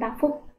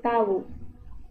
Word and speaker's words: tavuk: Jadi V ini kita bacanya W seperti itu. Seperti dalam kata waktu atau wali kota. Jadi ayam dalam bahasa Turki itu adalah tavuk. Ya, bukan tafuk tapi tavuk.